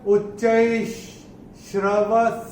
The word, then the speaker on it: उच्चैःश्रवसमश्वानां: तो यहां पे विसर्ग का उच्चारण होगा आधा श। तो ये हम ऐसा अपनी किताब में नोट करके रख सकते हैं। तो ये कैसे होगा? उच्चै श्रवसमश्वानां, ये ऐसे करके आएगा।